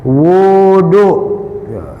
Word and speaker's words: wudu: Maka kita caranya adalah dengan wud wudu bidomil wau. Bidomil wawi pakai domah wau. Bacanya wudu.